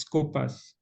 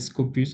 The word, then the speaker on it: Scopus: There is Scopus, or if you can call it Scopus or Scopus, it depends on your pronunciation, is SCOPUS.